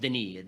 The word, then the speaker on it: Denis: How would they pay tribute to, I'm going to call him Dennis because I'm American, but I guess it's pronounced Denis Diderot.